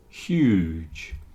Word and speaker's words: huge: say he is huge huge it's not like Hugh okay there are various people called Hugh like Hugh Grant or Hugh Jackman lots of famous people are called Hugh but this word is